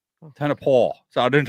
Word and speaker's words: Tonopah: In that Tonopah, whatever it's called.